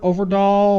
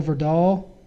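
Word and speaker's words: Øvredal: he's actually Andre over over doll or over doll because I think that o is not pronounced so for doll Andre for doll he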